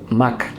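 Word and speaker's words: Mach: Se pronuncia MAC, la velocidad.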